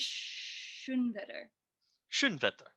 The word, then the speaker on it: Schoenwetter: be like a sequence of me pronouncing your name wrong all right shouldn't veto ari yeah yes it took a couple times